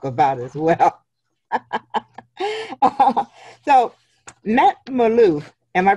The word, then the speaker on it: Malouf: him to talk about as well so met Maloof am i pronouncing your name right yes morning thank you